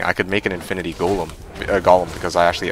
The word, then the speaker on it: golem: this Northstar say like go um go um well I think golem is the right way to say it at least that's the